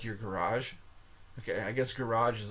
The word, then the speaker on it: garage: Gage Gage like your garage okay I guess garage is a French word garage garage it's not Gage it's garage okay so G plus a